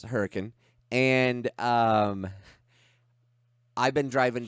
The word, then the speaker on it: Hurricane: don't live in utah it's pronounced hurricane it's hurricane and um i've been